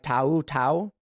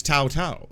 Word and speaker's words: Tou Thao: like a progressive uh I believe the proper pronunciation if you're not you know rude or xenophobic uh is Tau Tau uh I believe that's